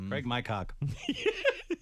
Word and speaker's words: Craig McCock: Wow, it is spelled exactly like you say it. It's Craig almost McCock. almost like my, yeah. Craig McCock.